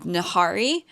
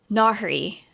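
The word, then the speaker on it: Nahri: Basically, we follow a thieving girl from Cairo named Nahari. Nari, I think is how the audio book pronounced it.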